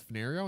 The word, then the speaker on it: Fenario: And there he suggests that Fenario is a perfect place name. If you need a generic name for an indeterminate place because it has 4 syllables, fen, ner, re, o.